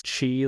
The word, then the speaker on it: Qi: So, my handle is Chi Like Cheetah. My first name spelled Qi to help everyone know how to pronounce my name.